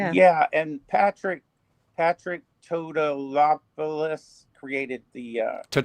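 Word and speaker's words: Tatopoulos: And Patrick Patrick Totoopolis created the uh Topoulos Topoulos created the uh the old helmets and stuff.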